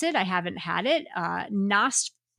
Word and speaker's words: Nosferatu: I can't even pronounce it. I haven't had it. Nosferatu. Nosferatu.